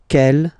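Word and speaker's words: quelle: C l L, but it's pronounced like the masculine form. K at the masculine, kel at the feminine.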